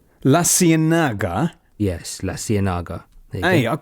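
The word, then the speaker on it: La Ciénaga: La Cienaga.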